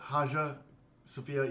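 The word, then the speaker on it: Hagia Sophia: how do you say it's it's spelled hagya but haa sopia yeah for sure we'll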